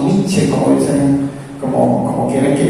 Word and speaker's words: Nietzsche: Sí, son unos amigos que insisten porque no me gusta pronunciar esa final, pero realmente en el alemán la E final sí va ahí.